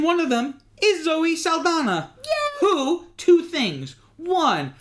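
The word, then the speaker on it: Saldaña: And one of them is Zoe Saldana. Yeah. Who, two things. One, her last name really is supposed to be pronounced Saldana because it has the little thingy over the N.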